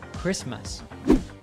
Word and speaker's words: Christmas: a schwa sound also the t in christmas is not pronounced so we hear christmas you will not be